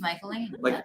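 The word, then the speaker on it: Michaelene: Her name is Michaeline. Like Michelle, but how do you spell that?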